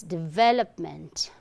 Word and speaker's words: development: It's not w sound but v.